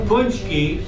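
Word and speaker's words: pączki: so that was yesterday don't even try to pronounce it it's pronounced it's a Polish name punchki there a better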